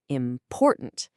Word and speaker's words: important: The main stress slams down on that middle syllable, important. And notice what happens to that final syllable, tant. It becomes weak, it kind of fades away.